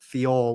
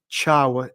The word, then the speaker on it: Thiaw: I I pronounced it on Friday night on this podcast. Theor, which I now know is not right. Um ciao I think is Malik. Ciao.